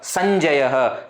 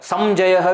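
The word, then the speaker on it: Sañjayaḥ: Sanjayaha. Samjayaha will never come. Dum will never come. It is not possible because Anusvara is not there.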